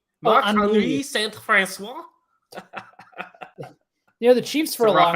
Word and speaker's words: Marc-Henri: Marc-Henri Saint-François. Did I say it correctly? Marc-Henri Saint-François. The Chiefs for a long accent, time. But that H is definitely silent, and it's definitely Henri.